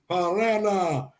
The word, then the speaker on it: Pereira: All right, so Alex Pereira, I don't know how to say it in Brazilian. Brazilian is like Mexican, like if you're deaf. So it's Pereira.